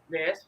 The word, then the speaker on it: Tavares: So with humble beginnings, she was born in Tavares, Florida. Is that how you pronounce it? Correct. Tavares, Florida.